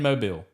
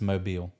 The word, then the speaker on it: Mobile: about Marty girl Mar girl is here in Mobile yeah it's where it started yall can try